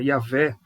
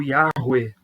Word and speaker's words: Yahweh: Tu és, a palavra aqui é o tetragrama, que é o nome pessoal de Deus, o Deus da aliança, Yahvé, ou Yahweh, ou Yehoah, dependendo da pronúncia.